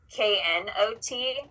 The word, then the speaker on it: knot: have to explain that the K in the beginning is a silent letter so the word sounds like not but those two words